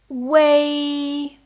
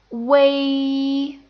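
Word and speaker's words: uei: use this spelling, and it's pronounced way. Notice that it's kind of like this one, A, except you have this oo sound in the beginning that makes it sound like way.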